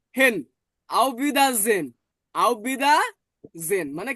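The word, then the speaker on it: Auf Wiedersehen: বর্গজ আর ইটাকে আমরা পড়ছি এ যে হেন আওবিদাজেন আওবিদা জেন মানে কি সুন ক্লিয়ার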